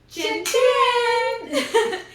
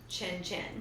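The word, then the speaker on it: cin cin: casual way to say cheers in Italian is chin chin. Chin chin. So, you're supposed to look someone in the eyes when you cheers them and you go chin chin.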